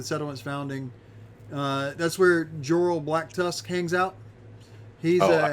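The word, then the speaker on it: Jorell: that's a church yes almost how do you spell that person's name again sorry joral uh yeah it is j-o-r-e-l-l okay black dust dust black tusk did did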